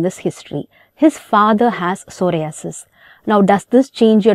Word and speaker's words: psoriasis: to remember it easily p is silent in the word psoriasis so proximal interference joint